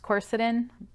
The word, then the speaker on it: quercetin: a powerhouse as is quercetin i've also heard that pronounced quercetin tomato tomato i guess now this particular supplement